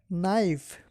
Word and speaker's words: knife: they need Coop shot the silent k knife knife or the churi you can k n i f e knife knife I want a